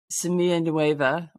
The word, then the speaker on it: Semilla Nueva: But if we could start, just for starters, you are the founder and executive director of Semilla Nueva, which did I pronounce it properly?